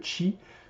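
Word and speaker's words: qi: Alors moi je dis le ki, hein, volontairement. Je sais qu'il y en a qui prononcent le chi.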